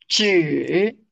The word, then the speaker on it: 知: It seems that when you pronounce this one, the two lips that tend to go out. Chi, chi, observe my lips. Chi, and for zhi, zhi. It does, the two lips, the lips do not go out so much.